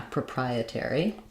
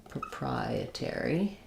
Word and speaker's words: proprietary: pronunciation of the word it is difficult sometimes to do both of these PR sounds what I would do